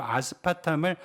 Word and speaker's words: 아스파탐: 광학 뉴스 주제는 아스파탐 이게 좀 가끔가다 발음하기에 좀 쉽진 않습니다 정확하면 아스파탐입니다 그렇죠 아스파탐 그 첫 번째 얘기고